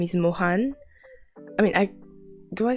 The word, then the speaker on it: Mohan: now his name is moan I mean I do I say that no I I don't pronunciate it like that in French I Say moan moan the H is silent yeah so um yeah